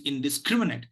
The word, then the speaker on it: indiscriminate: sounds come together scrub so it is indiscriminate indiscriminate so it is not indiscriminate it is indiscriminate so this is where